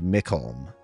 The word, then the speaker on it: Mkholm: I once played a turtle fighter named Mkholm. Okay, I got that right. The CH sounds like a K and Olm is pronounced like Holmes.